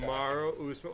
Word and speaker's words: Kamaru Usman: Kamaru Usman.